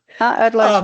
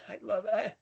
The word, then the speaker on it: Adelaide: We call it, you know, the Adelaide theory, you know, I I can't even pronounce the name of the city. I don't even know. Forgive me. Adelaide, right? Yeah. Shh. Adelaide.